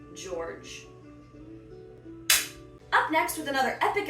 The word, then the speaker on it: George: People were wondering if it's George or if it's Jorge because it's a little bit like, oh, it is, I don't know, but it's spelled like forge. So it is in fact George.